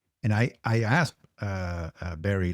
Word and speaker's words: Barry: uh I would hire Barry. And Barry is a fellow Dutchman. Um we actually pronounce it Buddy, but that let's not complicate things.